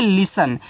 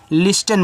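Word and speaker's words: listen: लिसन। यानी कि एल से आपका ल। आई से छोटी इ की मान्यता है ली। एस से आपका यहां पे छोटा सा इन दोनों का उच्चारण नहीं एन से केवल आपको न करना है। ये देखो आपका लिसन है। लिस्टन मत पढ़ना।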